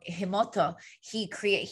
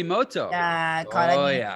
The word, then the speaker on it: Emoto: I'm going to say his name wrong, Himoto, Masaru Emoto.